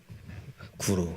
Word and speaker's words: Guru: And how do you say your name? Guru? Guru, just Guru.